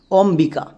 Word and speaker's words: অম্বিকা: উচ্চারণ করো অমবিকা। অমবিকা। এখানে কিন্তু বইয়ের উচ্চারণ আসছে। সো বইয়ের উচ্চারণ যদি হয় তাহলে বো সাইলেন্ট থাকে না।